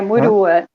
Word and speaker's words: Murua: É Muruá ou Murua que eu falo? Eu nunca falei seu sobrenome antes, apesar de a gente se conhecer há tanto tempo. É Murua. Murua, pronto, sem acento.